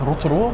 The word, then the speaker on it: Rotorua: Can you actually pronounce it right, bro? It's Rotorua.